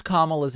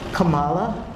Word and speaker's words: Kamala: presidency and Vice President Kamala Harris being sworn in here. Supreme Court Justice Sonia Sotomayor does mispronounce Kamala's name as Kamala.